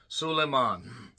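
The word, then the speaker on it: Soolaimon: But they also are opening with a song of Sullean is how it's said or at least as close as I can get.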